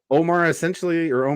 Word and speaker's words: Omer: so Omer starts I've been realizing this whole episode or previous episodes I've been pronouncing it Omar, but everyone says Omer in this episode. So I was like, oh, I guess that's Oh, how it's do they? pronounced. Yeah. Oh, I know. okay. No one says Omar. People say Omer.